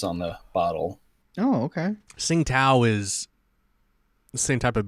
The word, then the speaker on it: Tsingtao: Sing Tao? Tsingtao. Oof. It's like a very light pronunciation of that T before.